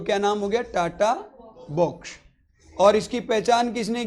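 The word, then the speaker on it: TATA box: nucleotide का होता है और पढ़ो इसको टी एटी ए ए प्रोनाउंस एशन करो इसका टाटा क्या है तो इसका नाम क्या हो गया इसका नाम हो गया टाटा बॉक्स इसका प्रोनाउंस कैसे आ रहा है टाटा तो इसका नाम दे दिया टाटा बॉक्स अब इस बॉक्स को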